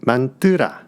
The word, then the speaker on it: 만트라: 만트라라는 것은 만뜨라, 산스크리트어입니다.